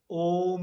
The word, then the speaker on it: ओम: These syllables are common. A, uma. So the correct one is तो नहीं बोलते, ओम ही बोलते हैं.